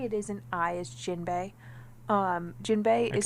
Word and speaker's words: Jinbe: of the technically it is an eye is jinbei um jinbei is spelled like in a Bernstein's way that it's